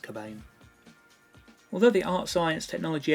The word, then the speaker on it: Cobain: including Gary's birth surname spelled c k b a i n although still pronounced cabain although the art science